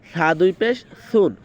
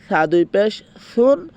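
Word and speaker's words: ث: এবার সামনে যে আমরা সা দুই পেশ সুন, এই যে সাটা যখন উচ্চারণ হবে, সার উচ্চারণটা আমাকে মানে জিহ্বার আগার সামনের দুই দাঁতের আগার সাথে মিলিয়ে তারপরে সাটা উচ্চারণ করতে হবে, ঠিক আছে।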